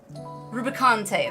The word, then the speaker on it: Rubicante: Rubicante.